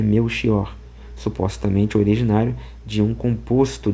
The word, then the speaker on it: Melchior: Ele vai dizer assim: "Tal como indica a grafia, o nome Belkior, variante de Mequior, é pronunciado com o X de mexer ou o ch de azeviche.